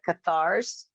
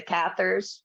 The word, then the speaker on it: Cathars: as a connection with the cathars right or the catheters right i've heard it pronounced both ways and you know not